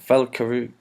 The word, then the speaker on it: Valkyrie: about that and also the wars and and Valkyrie Valkyrie is how you pronounce it valky run I'll cover you yeah